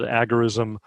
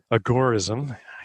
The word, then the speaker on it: agorism: write a book called agarism agorism i keep saying it the wrong way he preferred accent on the gore agorism contra marxism which